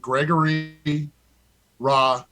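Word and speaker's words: Gregory Rousseau: mean for uh robbie's team i went with gregory raw so that's how you say his name 50.2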